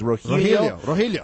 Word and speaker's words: Rogelio: Last week, 34-year-old Rogelio, how do you pronounce that? Rogelio is Rogelio.